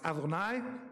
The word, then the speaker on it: Adonai: But that's pronounced Adonai, okay?